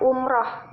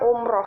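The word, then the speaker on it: umrah: Dalam Kamus Besar Bahasa Indonesia, kata baku dari umroh menggunakan huruf A, bukan menggunakan huruf O. Jadi pengucapannya umroh, bukan umroh.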